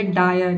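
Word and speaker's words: dire: गया डायर, ठीक है, डी का डॉ हो जाएगा, आई का हो जाएगा आई, और आर का हो जाएगा आधा र, ई साइलेंट है क्योंकि वर्ड के अंत में आया है, ठीक है। ये हो जाएगा आपका डायर।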